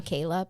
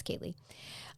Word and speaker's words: Kaylea: excuse me Kay yes it is spelled k a y l EA and so I keep seeing that a at the end of her name and wanting to to say Kayla but it's it's Kaye um she would be